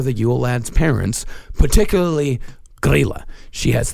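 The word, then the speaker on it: Grýla: These I know I'm actually pronouncing right. Okay. There is Grilla and Lepaluthe. Huh. Yeah. Grilla and Lepaluthe.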